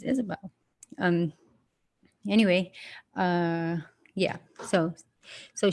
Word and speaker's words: Isabel: it however you want some people call me Isabella and that's not my name my name is Isabelle um anyway yeah so